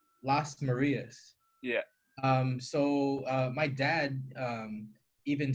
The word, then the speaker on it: Lasmarias: gage middle school no no no posted we pronounce last Maria's yeah so my dad even spells it where